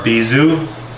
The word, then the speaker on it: bijou: vermouth there it is our bee zoo spelled like bijou cheers